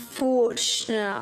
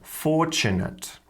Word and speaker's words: fortunate: idea in this feature she's pronouncing the TU sound as a CH sound this is really really typical of modern British English as well as Australian English forunate opportunity so whenever you see a tu like that you can pronounce them as a CH sound so these different words sound like fortunate opportunity actual the London Tube YouTube now this is